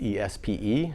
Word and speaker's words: Espe: That's E-S-P-E, but pronounced Espe.